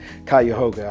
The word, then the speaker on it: Cuyahoga: I couldn't even pronounce the county's name. Cuyahoga, I got it right now.